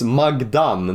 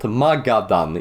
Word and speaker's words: Magadan: because in another video, I call this place Magdan, not Magadan. It says Ma Gadan. I think that's how it's pronounced.